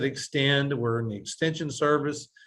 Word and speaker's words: X10D: Okay, and we pronounce it Extend.